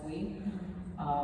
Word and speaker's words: Bui: The first one is called Chinese Ghost Stories We Tell Ourselves by Alex Bui. It's B-U-I. Alex, I think it's spelled A-L-Y-X.